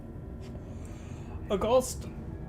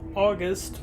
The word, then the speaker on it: August: August or August, however you want. I don't know why the I pronounced it so weirdly the first time.